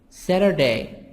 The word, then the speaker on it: Saturday: Thursday, Friday, Friday, Saturday, Saturday, T soft D, Saturday, Sunday.